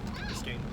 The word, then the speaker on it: Biscayne: Nick, is this street pronounced Biscayne? Yeah. Biscayne.